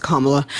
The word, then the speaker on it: Kamala: for voting for Kamala is it's Kamala it's pronounced kamla and yeah I'm voting for okay yeah so I'm voting for kamla Harris for like a bunch of reasons uh